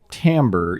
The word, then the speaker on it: timbre: term and sound um called timbre even though it is spelled timbre but it's just like they're